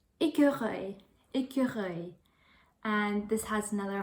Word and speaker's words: écureuil: So you kind of have to make that little sound when you're pronouncing this word, écureuil.